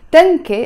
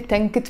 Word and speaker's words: تنكة: So tanke, but if it's followed by a noun, I have to pronounce the temarvuta and I say Tanket Pepsi, tanke.